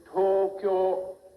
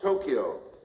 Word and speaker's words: Tokyo: When the vowel O is marked long, you hold the sound twice as long. Say to cure, not Tokyo.